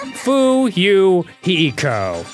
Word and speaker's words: Fuyuhiko: slit on your stomach my name is pronounced foo you hiko i'll be stabbing myself